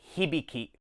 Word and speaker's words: Hibiki: Hibiki. Another great example of how each syllable is the same length, if anything, leans subtly into the first syllable.